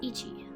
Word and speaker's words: 一: we have one day the first country is pronounced as Ichi this is probably the most common pronunciation for this kanji in my experience the